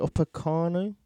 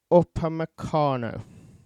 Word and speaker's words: Upamecano: Other names that have been mentioned are, let me just find this, how you pronounce it, Upamecano. Dayot Upamecano.